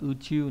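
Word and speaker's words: 宇宙: Vũ này trong từ vũ trụ nhé, đọc là uchu này.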